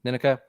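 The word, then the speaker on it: Nneka: that Cody, Jesse, and is it Ninika? Am I pronouncing it right? Yeah, Ninika.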